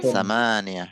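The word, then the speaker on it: ثمانية: Samaniyah. Memnya ditekan panjang ya.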